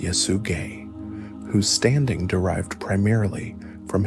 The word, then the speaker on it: Yesugei: His father was a respected, influential chieftain named Yesugei, pronounced Yesugei, whose standing derived primarily